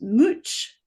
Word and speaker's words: Much: Uh, what I did was spell it out in the way it would be pronounced in Middle English, which is Mooch, which I spelled Mooch, which is a great gangster name, It is, right?